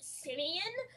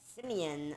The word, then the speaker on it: Simeon: a fighting for him it's actually it's actually pronounced simian oh my god Simeon oh my gosh dude